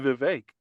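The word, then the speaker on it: Vivek: if it's not Trump it's vake yeah pretty much like cake Bingo like that's it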